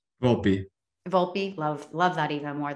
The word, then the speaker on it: Volpe: volpe is that how you say it anthony vault volpe volpe love love that even more than volt moved